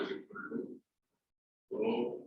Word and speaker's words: rho: It is pronounced as rho.